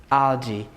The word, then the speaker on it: algae: The way you pronounce it is not correct. Algae.